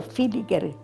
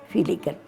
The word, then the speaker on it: Villiger: Mi suegra era de apellido Filiker, que se escribe Villiger, con B corta y doble L, Filiker.